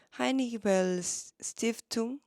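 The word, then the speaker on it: Heinrich-Böll-Stiftung: 하이니히 벨 스티프퉁? 독일어로는 그렇게 발음하는데 동아시아 사무소를 서울에 연 지가 얼마 안 된 것 같아요.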